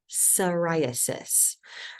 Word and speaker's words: psoriasis: next skin disorder psoriasis I know there's a p on here but you don't it's a silent P so it is pronounced psoriasis um so psoriasis it's an inflammatory disorder